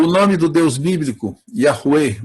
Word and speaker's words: Yahweh: O nome do Deus bíblico, Yahweh, a minha pronúncia predileta, mas aqui em português se fala normalmente Javé, ou Yahvé.